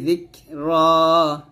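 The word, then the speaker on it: ذِكْرًا: ফাত্তালিয়াতি যিকরা, যিকরা দাল কাবজে যিক এখানে হামজ করবেন।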